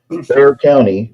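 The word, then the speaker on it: Bexar: heads, certain counties like Bayer County, which is spelled, it's spelled Beexar County Law, B X A R Bear County, San Antonio, they require you to have certifications for you to do this.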